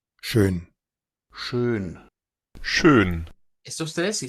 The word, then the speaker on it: schön: Y claro, si no supiéramos del alfabeto fonético internacional, fácilmente pensaríamos que esos lo están pronunciando como una U, ¿vea? Porque como es una E redonda y la E redonda es hacer la E con forma de U, fácilmente podríamos irnos por ese camino.